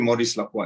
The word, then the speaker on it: Maurice Lacroix: say Maurice Lacroix or something, but it's actually Maurice Lacroix. It's not an easy word to pronounce, but it's doing very well.